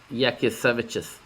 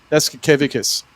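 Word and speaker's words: Jasikevičius: Yakisevichus. That's how you say it. Yasikevicius.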